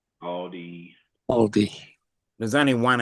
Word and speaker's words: Aldi: Aldi.